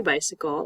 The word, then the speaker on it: bicycle: Look at this word bicycle. Bicycle. This letter C is not making the K sound. Do you hear that?